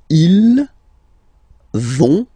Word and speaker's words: vont: So ils vont, final T not pronounced, ils vont, and then feminine form, elles vont.